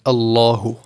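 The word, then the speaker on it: الله: So the only time you'll ever pronounce a lam with a full mouth is in the word Allahu.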